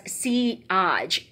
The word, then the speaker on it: Sillage: Okay, Sillage actually is the trail scent, or scent of trail, and it's pronounced as Sillage, S-E-E, and then A-A-G-H-E.